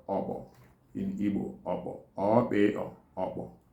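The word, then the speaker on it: okpo: Worm is called obo in Igbo.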